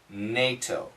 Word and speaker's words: NATO: The American pronunciation is NATO.